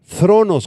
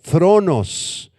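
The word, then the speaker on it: θρόνος: trono es la palabra griega tronos con th y acento en la o tronos y esta palabra está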